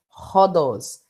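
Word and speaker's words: ὁδός: a inspiração as para ele é transliterado com o h no início da palavra e a pronúncia fica rodless então aqui nós não temos o doce nós temos rodos então aspiração a áspera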